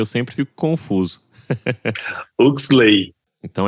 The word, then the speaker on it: Huxley: Salve, salve, Hurley Dias.